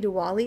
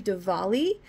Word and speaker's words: Diwali: was saying it wrong I was saying to Ali it's actually Diwali so but yeah this